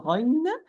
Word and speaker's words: غ: ha are produced or pronounced from the root of the tongue with the soft palate, in particular, it is the uvula, or in specific, it is the uvula.